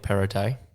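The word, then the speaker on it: Perrottet: i thought it was gonna like um dominic perotte appreciate that that's how you pronounce it irritating yeah that's it yeah he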